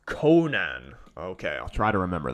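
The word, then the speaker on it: Coman: and didn't deserve to go through uh it's pronounced Conan okay I'll try to remember that Conan how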